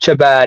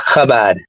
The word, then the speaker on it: Chabad: not Chabad. It's pronounced Chabad. Okay. Chabad.